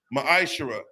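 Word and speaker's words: מעשר: Means tenth in the Hebrew, it's pronounced ma'ashara.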